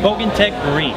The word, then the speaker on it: Bogantec Marine: meet you sir nice to meet you too pronounce the name of the company for me again bog Tech marine bog Tech Marine now I've seen a lot